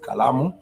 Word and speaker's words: kalamu: So I would say that these are 3 syllables: the ka, the la, and the mu.